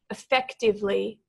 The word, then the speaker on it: effectively: I want us to walk through slowly here effectively so the emphasis is on the second syllable there now let's go